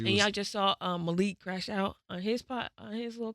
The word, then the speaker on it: Malik: So we're not pronouncing it Malik. Man, thank God we're not. Yeah, it's Malik.